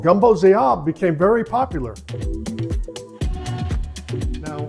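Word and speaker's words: Gumbo z'herbes: So a variety of gumbo called Gumbo Zayab became very popular. Now, when you see it written out, it's written Z apostrophe herbs like that, but the natives pronounce it Gumbo Zayab.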